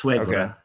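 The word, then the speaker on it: suegra: And um I'm going to bring his mother back, my swagger, my mother-in-law. Bring her back to Oregon. Is that how you say it in Spanish or? Yes. Swaggra.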